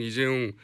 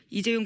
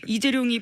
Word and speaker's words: 이재용: 최순실 씨가 이재용 부회장 이름을 이재룡이라고 주로 발음한답니다. 그래서 이재룡이 VIP 만날 때 말 사준다고 했는데 왜 빌려주냐 이렇게 화를 냈다라는 빌려주냐, 겁니다.